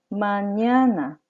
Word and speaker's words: mañana: 내일, mañana. mañana. 스페인어에는 n 다음에 에녜라는 알파벳이 한 개 더 있죠. 냐, 녜, 니, 뇨, 뇨 이런 발음이 납니다.